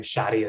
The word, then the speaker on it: Shadi: know about me, I'm Shadi. Shadi rhymes with daddy. It's a corny mnemonic, but it works for everyone on how to better pronounce my first name.